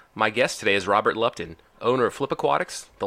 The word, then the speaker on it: Lupton: Lupton.